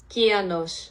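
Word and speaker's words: κυανός: with a kappa, and according to Google Translate, it's pronounced more like this. Kianos.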